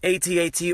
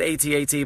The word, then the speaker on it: AT-AT: on for a while I've always said AT-AT but I've been told by many mega Star Wars fans that it's add at so how would you